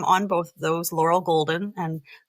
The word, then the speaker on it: Goulden: Laurel Golden. And Golden is spelled with a crazy U in there. It's pronounced golden, but I'm Welsh, so we like to throw you's in.